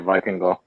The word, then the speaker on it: Vikingo: Yeah, Vikingo.